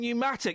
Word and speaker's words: pneumatic: The silent P in pneumonia and pneumatic.